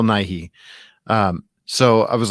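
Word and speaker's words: Nighy: you pronounce this building bill not knight yeah bill nye um so i was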